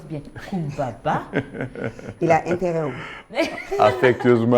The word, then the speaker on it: Coumba Ba: Et puis il le prononce bien. Kumbaba.